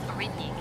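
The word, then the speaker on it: Aurigny: The airline is pronounced as Origny, Captain.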